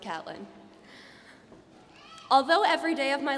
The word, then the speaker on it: Catelyn: Yes, it is spelled Caitlyn, but I promise it's pronounced Catelyn.